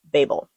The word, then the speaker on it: Babel: The author has said that you can pronounce this either way, Babel or Babel, but the audio book says Babel, so that's what I'm going with.